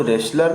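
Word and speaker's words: wrestle: वो रेसलर नहीं होता, रेसलर मीन्स को पहलवान, तो रेसलर से रेसल बना है, रेसल, रेसल से रेसलर बना है। तो यहाँ पे टी आप साइलेंट रखेंगे, ठीक है ना, टी आप साइलेंट रखेंगे।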